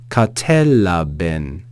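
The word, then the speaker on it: κατέλαβεν: Katelaben, katelaben. So verse 5 reads, kai tophos en te skotia phaine, kai he skotia auto u katelaben.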